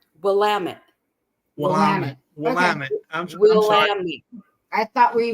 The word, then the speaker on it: Willamette: It's pronounced Willamette. Willamette? Willamette.